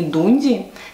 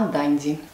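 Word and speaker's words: Dundee: Не Дунди, как все русские говорят, а Данди. Произношение проверено с англичанами.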